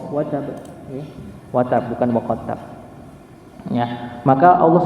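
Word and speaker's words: وَتَبَّ: Nah, di sini menunjukkan bahwa ada salah satu riwayat Quran yang itu bacanya bukan watab tapi wa qattab.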